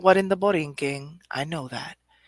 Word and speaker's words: Borinquen: I know this is not what in the Borinquen. I know that. But Borinquen, when it's spelled Borinquen, it's just Borinquen.